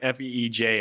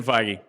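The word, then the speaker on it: Feige: would say I like how do you pronounce it it was like fej and I was like that doesn't sound right but okay yeah Kevin figy okay uh when somebody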